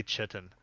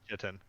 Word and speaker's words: chitin: Oh my god, is that how that word is pronounced? Chitin? I hear everybody say chitin.